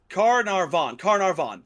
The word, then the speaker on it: Carnarvon: Howard Carter and Lord Carnarvon. I think that's how you say it. It's Carnarvon.